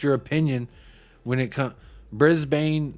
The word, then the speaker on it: Brisbane: Brisbane, not Brisbane? Brisbane, not Brisbane. Brisbane Rovers. So the A is silent.